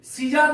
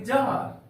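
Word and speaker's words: czar: ए आर यहां पर सी का उच्चारण नहीं करेंगे सीजार नहीं बोलेंगे हम लोग यहां पर बोलेंगे जार जार का अर्थ होता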